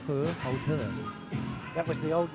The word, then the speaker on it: Hohhot: Which, if we give it its Chinese name, is pronounced Hohhot.